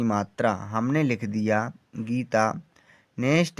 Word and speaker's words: गीता: Next है GEETA पढ़ेंगे गीता। जी से गा हुआ, डबल ई का मतलब बड़ी की मात्रा, टी से ता और ए का मतलब बड़े आ की मात्रा। हमने लिख दिया गीता।